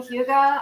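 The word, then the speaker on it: hygge: that that Danish thing Huga I'm so into that I read a book about it it's h y g g another thing that's not pronounced the way it's spelled and I said oh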